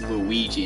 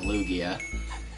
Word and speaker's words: Lugia: That or Luigi, as to kind of make fun of people mispronouncing my name as Luigi instead of Lugia.